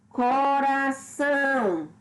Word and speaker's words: coração: Coração. São, que é a sílaba tônica, é a última, é a mais forte.